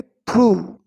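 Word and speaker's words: through: इसको हम पढ़ेंगे थ्रू, यहाँ पर GH साइलेंट है, राइट।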